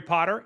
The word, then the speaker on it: Potter: My name is Potter. Yes, it rhymes with the boy wizard, host of the Social